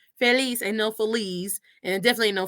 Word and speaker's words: Feliz: it right, and FELIZ, even though the Z in Spanish is pronounced como un S. Feliz ain't no Feliz, and definitely ain't no Felix.